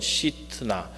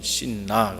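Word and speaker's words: שִׂטְנָה: 줘 c 츠나 합니다 시트나 원어로 는 시트나 그냥 우리는 씐나 이렇게 영어식으로 변하고 발음을 그렇게 합니다만은 히브리 사람들은 c 츠나 이렇게 있습니다 4 시트나 라는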